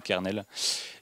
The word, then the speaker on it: kernel: En anglais, pour l'anecdote, ça se prononce comme colonel, parce qu'en fait, les anglais ils sont chelous, et du coup, colonel se prononce comme kernel.